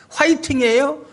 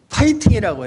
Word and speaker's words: 파이팅: 화이팅이에요? 파이팅이에요? 화이팅 아니에요. 그것도 F잖아요. 파이팅이라고 해야 돼요. 근데 다 화이팅 그러거든요.